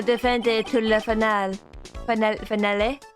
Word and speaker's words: finale: Finale? How do you pronounce that in French? Finale? Finale. You wouldn't say the finale E. You wouldn't say a hard E, I don't think, right?